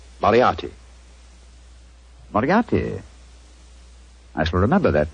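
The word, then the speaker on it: Moriarty: it or mispronounce it I'm afraid I'll have to begin calling it the way it looks m o r i a r t y mariati Marti I shall remember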